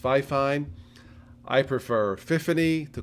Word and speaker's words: Fifine: to be fair to the company it is pronounced fifine i prefer tiffany to call it 50 because